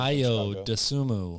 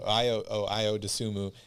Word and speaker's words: Ayo Dosunmu: Josh Giddey, Bones Highland, Ayo, I don't even know how to pronounce this guy's name. Ayo Dosunmu. There you go. Ayo Dosunmu, and Chris Duarte from Indiana.